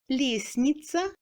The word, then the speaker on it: лестница: Dans les combinaisons STN, on ne prononce pas le T non plus. Лестница, постный, известный.